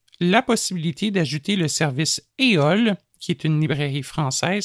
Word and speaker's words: EOL: Ce mois-ci, sachant que nous parlons de livres parlés, nous souhaitons vous présenter la possibilité d'ajouter le service EOL, qui est une librairie française, ça s'écrit E-O-L-E, directement sur vos appareils Humanware.